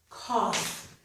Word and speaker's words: cough: A k sound for the letter C, ah for the 2 letters OU, and an f for the 2 letters GH. Okay, the word is cough.